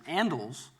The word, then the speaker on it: handles: The customer there was asking for 4 candles, handles for forks, but given dialects of English where the H in a word like handles is not always pronounced, it may be pronounced as andles, 4 candles and 4 candles are oronyms.